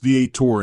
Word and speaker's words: Theater: it was then and remains today a magnificent place even as a child I understood instinctively that the Palace Theater pronounced the Ator in Waterbury was a special and